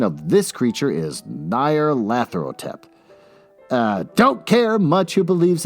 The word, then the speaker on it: Nyarlathotep: I got to figure out how to pronounce Nyarlathotep. Can I pronounce it? H.P. Lovecraft with no, there's no pronunciations. All right, fine. Moving on. As far as I'm concerned, the official pronunciation of this creature is Nyarlathotep.